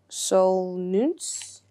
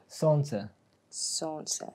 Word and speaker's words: Солнце: All right, yeah, how do you say it? Solnce. Solnce. Oh, see, now that makes more sense.